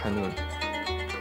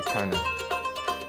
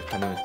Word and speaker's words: kanun: The instrument is called kanun. That's the Arabic pronunciation. A lot of Western people would go for the Turkish pronunciation. It's the kanun. I'll stick with the Arabic one. It's the kanun.